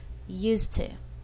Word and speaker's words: used to: are pronounced the same the words are linked together and pronouns like this